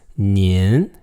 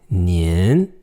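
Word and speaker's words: 您: to create multiple people the polite form of you is nin nin the voice goes slightly up and it's gotta end at the end nin nin now notice on your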